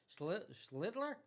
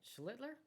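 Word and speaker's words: Schlittler: Um, Chitler, I got Is that how you pronounce it? Is it Shitler? Schlitler. You're going to be saying his name right soon. Well, how do you say it? Schlitler.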